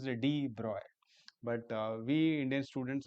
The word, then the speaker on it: de Broglie: Actually, we Indian students pronounce it as de Broglie. We pronounce it as it is written, but actual pronunciation is de Broy.